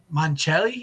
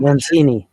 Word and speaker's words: Mancini: Moon River karaoke Moon River by Henry Mancelli. Is that how you say it? Mancini. Henry Mancini.